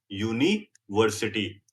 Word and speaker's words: university: Use a with you sounding like you. University. A university.